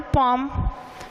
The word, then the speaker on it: poem: क्योंकि POEM इसे अपन लोग सुनते हैं, पोइम बोला जाता है अमूमन भाषा में, इसलिए कि वो समझ में आ जाए। बट अगर इसकी वास्तविक रूप में प्रोनाउंसिएशन देखें तो इसका प्रोनाउंसिएशन होती है पॉम।